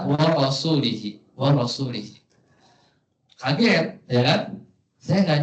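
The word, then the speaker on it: ورسولِه: Bacanya gimana? Annallaha bari'um minal musyrikin wa rasulih, dengan kasroh. Jadi dia bacanya itu rasul, lafaz rasul ini dibaca wa rasulihi.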